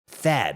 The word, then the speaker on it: THAAD: First off, for those who don't know, THAAD stands for Terminal High Altitude Air Defense. THAAD. You know, it rhymes with bad, and that's exactly what it is for your wallet.